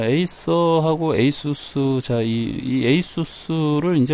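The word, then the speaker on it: ASUS: 에이수스 자,이 에이수스를 이제 원래 그 발음을 어, 아수스 아수스라고 많이들 발음을 하시죠. 근데 이제 저도 잘 모르겠는데 그 그쪽 회사에서 에이수스라고 발음을 그 하는 것 같아요. 그리고 이게 공식적인 어떤 발음 표시인 것 같기도 하고 가끔 이제 외국 영상 보면 에이스라고 발음을 많이 하는 것 같더라고요.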